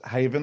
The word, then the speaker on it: Bunnahabhain: Bunnahabhain. Oh, it's more Scotch whiskey. I think it's Haven at the end, the pronunciation.